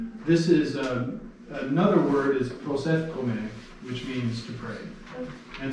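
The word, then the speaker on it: proseuchomai: All right, so we have one on the prosefkome, or the pray word. Yes. Very good. So we have pros, so we have the one vowel there, omicron, so it should have one vowel sound per syllable, pros, and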